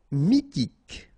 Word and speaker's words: mythique: Mythique. Remember, Q-U at the end, K, okay, and then Y is pronounced like I.